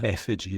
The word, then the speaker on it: Effiji: It's first of all, it's Nisenboim, but Effiji Breathwork. Yeah. Effiji is how you pronounce it.